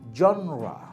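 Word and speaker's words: genre: শব্দটা উচ্চারণ বলেছি, বানানটা মনে আছে? FOYER, ফয়ার। এরপর শব্দ যেটা বলেছিলাম সেটা হচ্ছে জনরা, জনরা, GENRA, শব্দটা কি?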